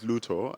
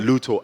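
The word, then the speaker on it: Lutho: All right, so my name is Luto, and I'm a... How do you spell that, sorry? Luto, L-U-T-H-O. Luto.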